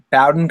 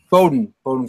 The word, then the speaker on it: Bowdoin: Right now is at Bowdoin College. Is that how you pronounce it, right, Coach? Bowdoin College, up in Maine.